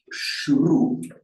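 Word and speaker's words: śru: This S that we write with the slash on top is the palatal sh sound, with the tongue in the same position as the j. It's a sh, shru.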